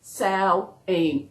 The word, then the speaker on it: Samhain: Samhain is pronounced S-A-M-H-I-N, and it's pronounced Samhain, S-O, that's how it's pronounced.